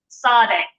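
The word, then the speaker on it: צ: And this letter is pronounced s. So it's an S sound, but it has a T on the front of it. So sade, very much like, for instance, in the word czar is another example of that we're familiar with.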